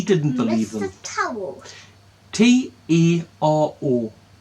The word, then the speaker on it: Taro: T-A-R-O. Taro. Towel. Like tarot cards without the T at the end. Well, that you don't pronounce.